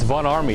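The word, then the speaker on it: Von Ormy: It's Von Army. It's pronounced with an A.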